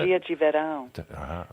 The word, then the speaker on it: Magia de Verão: to play one of your videos, Summer Magic, Magia de Verão. Is that how you pronounce it? Magia de Verão.